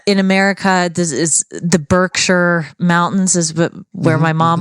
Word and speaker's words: Berkshire: for tourists but basically if you see an ER it's very rarely pronounced ER so we've got for example uh the the county where where Windsor is where Windsor Castle is is is Berkshire not Berkshire right uh in America